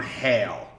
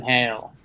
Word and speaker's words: Hale: story written by Tom Hale which is very important because the subject matter is whale jail so we have Z spelling Hale h eh l e okay like whale without the break so Hale writes about whale jail